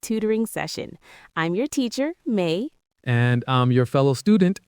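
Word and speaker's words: 妈: If I say ma with a high flat tone, it means mother.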